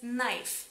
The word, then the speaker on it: knife: en esta palabra es muda y tenéis que pronunciar esta palabra como knife como si no hubiese la caja nadie muy